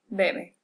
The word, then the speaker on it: bebe: The only thing different is the stress. So the baby drinks, we would say el bebé bebe.